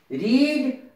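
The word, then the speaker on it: read: Spelling तीनों की एक जैसी रहती है, तीनों फॉर्म है, स्पेलिंग एक जैसी रहेगी। रीड, रेड, रेड, यानी सेकंड और थर्ड फॉर्म को रेड पढ़ा जाएगा, जबकि स्पेलिंग फर्स्ट फॉर्म की भी वही है।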